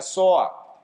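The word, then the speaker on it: ζωή: Y esa vida en Cristo que se pronuncia soa, a lo que apunta es a una calidad de vida.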